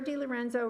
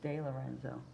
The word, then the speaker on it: DeLorenzo: I think it's DeLorenzo. Thank you. I mispronounced it.